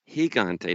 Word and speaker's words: Gigante: they're like johnson rick rick heard wanted us to tell you it's gigante not gigante you tell a